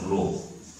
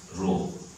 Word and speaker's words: rho: mass and this is a Greek letter which is pronounced as Rho you read it as Rho so this also is